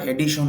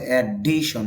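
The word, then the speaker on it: addition: যদিও আপনারা এডিশন বলেন, শুদ্ধ উচ্চারণটা হবে এডিশন, ডির মধ্যে ধাক্কা হবে।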